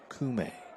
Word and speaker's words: Kume: Kafi Kume. Well, that's the way they told me I should pronounce it tonight.